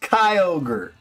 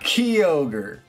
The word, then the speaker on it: Kyogre: Nino, the Japanese spelling is unambiguously pronounced Kyogre, not Kyogre.